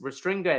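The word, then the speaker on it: restringere: word restringer so and sorry for that little mispronunciation but it's restringer there and which means to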